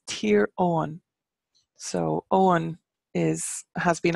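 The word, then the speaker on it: Tír Eoghain: here in Tyrone we have Eugene's land it's tier on so Owen is has been anglicized as Eugene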